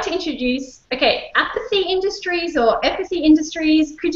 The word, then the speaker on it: Aeipathy: Zelda motion so I'd like to introduce okay apathy Industries or empathy Industries could you tell us how to pronounce it yeah it's it's epath Industries we made the mistake of choosing a